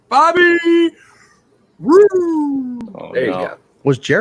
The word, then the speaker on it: Roode: Bobby Roode.